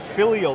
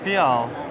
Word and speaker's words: Fial: Tell me about the filial though, because this one, there's a lot going on. Yeah, so the Fial. Oh, Fial, that's how you say it? Yeah. Oh, I added a letter there.